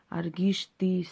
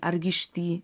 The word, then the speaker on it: Аргишты: И в клинописи царя Аргишты написано: «Я, Аргишты, сын Минуа, построил город сей». Неправильно сказал ударение. Аргишты, сын Минуа, построил сей город во славу моего рода и моего имени.